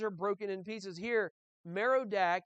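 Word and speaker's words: Merodach: veiled b-a-a-l also okay meridak is broken in pieces her idols are confounded her images are broken in pieces here merodak is also marduk on the handout is spelled m-a-r-d-u-k and it's the same thing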